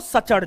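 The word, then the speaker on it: suture: Trans Himalaya को बृहद हिमालय से अलग ITSZ, फुल फॉर्म होता है Indus Tsangpo सचर zone. T silent है, टी साइलेंट है।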